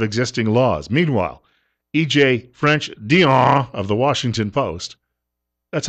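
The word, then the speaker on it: Dionne: the edges of existing laws meanwhile EJ French Dion of the Washington Post that's how his name is pronounced by uh the crow over at National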